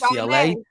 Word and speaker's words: Charbonnet: Chardonnay. Make sure I can pronounce his name right because y'all would kill me on like 3 videos ago.